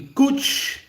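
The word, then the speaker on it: cwtch: Okay, the kuch rhymes with patch, a hug, cuddle, or safe place.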